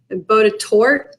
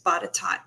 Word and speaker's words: Botetourt: And it looks like it should be pronounced Botetourt, right? But it's Botetourt.